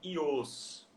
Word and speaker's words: Joos: é Ios, né? Vocês veem, o meu Ah, nome está escrito legal. J, mas pronuncia I.